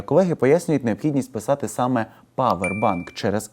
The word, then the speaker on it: повербанк: Як правильно, powerбан чи Powerбан? Майте час подумати. Більшість людей упевнено вимовляють Powerбан з ОО у першому складі.